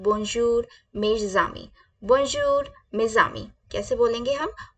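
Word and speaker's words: bonjour mes amis: my friends को हम French में बोलते हैं बजर मे जामी बजर मेजम कैसे बोलेंगे हम बजर मे जामी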